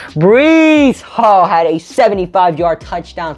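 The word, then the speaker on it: Breece Hall: and joe flacco but bruce hall had a 75 yard touchdown today excuse me i said his name wrong breeze hall had a 75 yard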